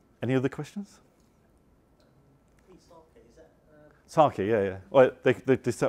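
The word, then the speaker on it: psake: other questions is that sake yeah yeah well they they for some reason they decided to get rid of the P for for pronunciation it actually says on their website drop the P sake and that's why it's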